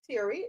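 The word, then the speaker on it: Thierry: Former French economy minister Tori, that's how you pronounce his name.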